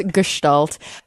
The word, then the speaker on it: Gestalt: have you stalled yes it's ghost alt it's German it's Gestalt I don't know literally